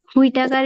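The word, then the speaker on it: Whitaker: উচ্চারণের সময় যদি ইংলিশটা দেখে উচ্চারণ করতে হয় তখন তো হিটাকার বলবে। হুই টাকার মনে রাখবো, আড়াইশ হুই টাকার, হুই টাকার মনে রাখবো।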